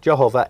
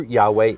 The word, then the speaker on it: Yahweh: Yehovah or Jehovah a mispronunciation of the Hebrew Yahweh, the name of Elohim.